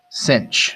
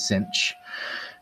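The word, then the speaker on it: sinh: end which is pronounced cinch so sine with an h is cinch that's going to be e to the x minus e to the negative x all over 2.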